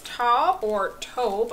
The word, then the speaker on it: taupe: That one was a mauve-y pinkish color, and then the next one is taupe, I believe it's pronounced.